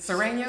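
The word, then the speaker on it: Sureños: Sereno?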